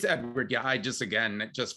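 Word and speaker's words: Eadward: and it's spelled e-a-d-w-a-r-d so it's it's still pronounced edward it's edward yeah i just again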